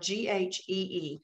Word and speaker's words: ghee: you can also use ghee butter spelled g-h-e-e and pronounced ghee ghee butter all ghee butter